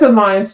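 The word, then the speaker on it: Allianz: the third party vendors they use I'm probably pronouncing it wrong but I think it's Alliance no it is Alliance you're saying it correctly I know about that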